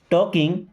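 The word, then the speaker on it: talking: टॉकिंग देखिए L silent है ना टॉकिंग।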